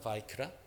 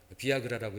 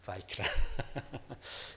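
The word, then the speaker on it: ויקרא: 바이크라. 비아그라라고 읽으면 안 돼요. 여러분. 바이크라.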